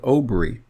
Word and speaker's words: Obri: some people call paleo-hebrew i call it obri because that's exactly how it would be pronounced if you look at the word and understand that we're